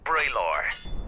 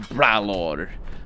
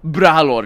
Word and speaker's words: Bralor: and strongest of us braylor he didn't even pronounce it nicely instead of pronouncing it bralor brahlor is a lot more scary braylor i see you